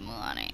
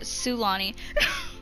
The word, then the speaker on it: Sulani: Is this actually called Mulani? Because oh, Sulani. I pronounced that so wrong.